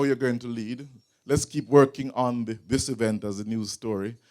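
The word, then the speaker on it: lede: L-E-D-E, it's pronounced lead.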